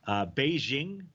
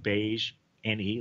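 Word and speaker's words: BeiGene: Beijing, I don't think that's it. It's Beige NE Limited.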